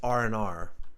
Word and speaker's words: R and R: We even say R and R. Like that, R and R, R and R. You'll actually hear this pronounced as R and R.